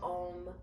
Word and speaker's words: Om: chant the sound of om one time om is sometimes spelled o m but more traditionally it is spelled a u m so there are three distinct sounds when we chant the